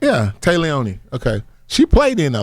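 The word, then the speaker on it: Téa Leoni: Oh, Tay Leone. Wow. It's actually not spelled like that. It's Tae. Yeah. Yeah. It's weird. Yeah. Close. Mom spelled it different. Yeah. Tay Leone.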